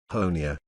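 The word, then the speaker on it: Honea: third year as Sheriff honia rhymes with Tony has become something of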